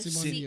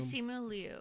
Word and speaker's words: Simu Liu: Simon Liu. Simu Liu.